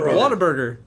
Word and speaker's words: Whataburger: it I don't know Whataburger no it's what a burger like it's a giant isn't that what I